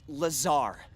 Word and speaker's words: Lazar: Rangers, this is Laser Blazer, a researcher in our R&D department and its sales liaison. It's Lazar actually. accent on the ZAR, but yes, I'm your pop for R&D.